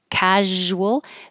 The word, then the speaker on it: casual: is like Mountain um casual the Z is like sh but with voicing so make sound in your throat casual acquaintances and then